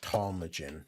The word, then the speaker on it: ptarmigan: It's like ptarmigan, because I'm assuming the P is silent.